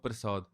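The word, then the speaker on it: ਪ੍ਰਸਾਦਿ: And then when we say Tav Prasad, we don't say Prasad, because prasad is something that we get. It's prasad, which is slight different pronunciation, prasad, and no shasha is sasa, and that's referring to it being kirpa.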